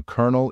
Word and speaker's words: colonel: part of something so the following sentence might help you to remember the right pronunciation A Colonel is the colonel of any army how are you feeling